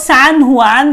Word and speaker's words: San Juan: The place was San Juan, that's how we pronounce it.